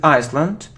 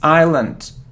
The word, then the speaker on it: island: this world it isn't Iceland now it isn't Iceland it's Island we don't pronounce its Island okay good so it